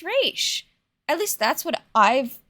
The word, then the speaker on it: Ra's: I get why it's, like, why someone would pronounce it Ra's, because it's spelled R-A apostrophe S, but it's always been pronounced Raish.